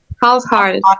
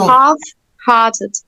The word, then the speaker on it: half-hearted: Half-hearted. Yeah, half, don't say letter. Half-hearted.